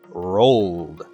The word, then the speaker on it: rolled: more time roll it is voiced this means that the correct pronunciation is rolled there's one verb left